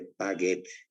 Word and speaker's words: Paget: Paget se pronuncia y se escribe Paget con G, ¿no?